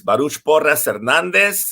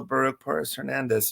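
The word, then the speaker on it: Baruch Porres Hernández: uh like mason said my name is baruch porres hernandez if you speak spanish if you don't it's okay it's also baruch perez hernandez very easy to pronounce very easy to remember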